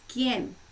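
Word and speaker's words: quien: for someone right so in spanish it's ken q u i e n and then if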